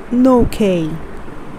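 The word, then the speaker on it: gnocchi: so it's pronounced as no k no k remember g over here is silent and the pronunciation is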